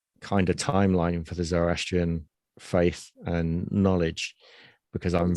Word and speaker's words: Zoroastrian: Zoroastrian, is that how you pronounce it? Yes. Zoroastrian, yeah.